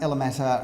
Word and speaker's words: Ella Mata: this street ella mata 29 alamata rhymes with doesn't matter it does matter though